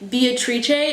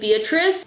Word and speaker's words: Beatrice: One of the most satisfying things about studying in Spain has been that professors almost always default to saying my name Beatrice instead of Beatrice, and it makes my